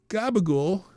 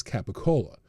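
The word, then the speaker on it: capicola: Gabigul is colloquial. Americanized pronunciation of the Italian pure oh of the Italian cured pork product known as capacola also referred to capo or capoccola.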